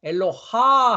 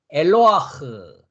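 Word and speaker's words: אלוה: 엘로 한 다음에 엘로하 하지 않는다고요. 엘로하 하지 않고 하 하지 않고요. 파다을을 먼저 한 다음에 문자 소리를 합니다. 그래서 엘로아흐, 엘로아흐, 엘로아흐 이렇게 한다는 거죠.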